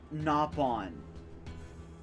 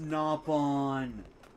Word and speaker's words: Nopon: I found someone that doesn't mispronounce that doesn't mispronounce the freaking Knopon. I'm sorry. I I' I've been keeping it in this entire stream. Every time they've said it, I hate that phrase. It's pronounced Napon.